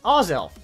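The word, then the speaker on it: Azelf: the wrong way so this is how you can tell if they're mispronouncing Oz elf if you're trying to take a selfie then you're saying it wrong let me introduce you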